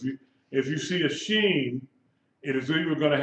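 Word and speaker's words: שׁין: left at the top if the dot is on the right you pronounce it s h sound she sh okay if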